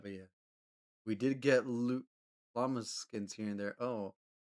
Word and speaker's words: llama: Oh no, the pinata is a llama. Oh, it's a llama. Llama. Un llama. I don't even know if I'm pretty sure that's how you say it in Spanish because the double L makes the Y.